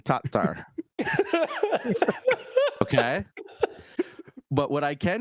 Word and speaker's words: Tattar: I am not saying T-A-R. I'm saying Tattar.